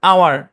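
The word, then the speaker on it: hour: তারপর দেখেন আওয়ার, হ্যাঁ আওয়ার শব্দের মধ্যে এইচ সাইলেন্ট, এয়ার এখানে এইচ সাইলেন্ট, এই শব্দগুলো মনে রাখবেন।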